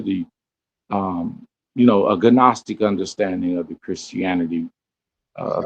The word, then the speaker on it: Gnostic: It' be cra it be it became flesh according to the um you know a gnostic understanding of the Christianity of the Bible is silent. the G is silent in Gnostic.